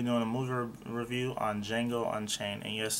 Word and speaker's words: Django: a movie review on D Jango unchain and yes the D is silent I keep saying the